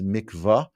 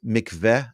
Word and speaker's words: mikvah: Even though it isn't really presented this way in English print, the common pronunciation is mikvah, but it's mikveh as well.